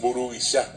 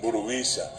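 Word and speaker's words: mburuvicha: caso del guaraní boliviano, la diferencia está en el acento. Nosotros en el guaraní que hablamos acá y también los correntinos, el acento va al final. Y decimos, por ejemplo, burubishá. Y los bolivianos le ponen el acento en el medio. Y es un acento llano, burubisha.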